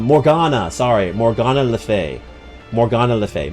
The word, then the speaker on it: Morgana: Not Morrid. Oh I got the name wrong. Um, Morgana.